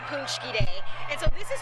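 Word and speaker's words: pączki: back home it's called punchy day and so this is how you spell it and it's pronounced punchy and basically on this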